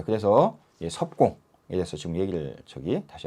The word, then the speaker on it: 葉公: 자한테이 말을 했거든요 여기서 이거를 보려고 합니다 여기 섭 공에 대해서 섭은서 이제 섭이라는 의미고 여기는이 그 발음 얘기합니다 공은 초윤 심이라 자는 자고라 참